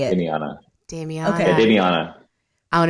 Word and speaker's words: Damiana: Damiana.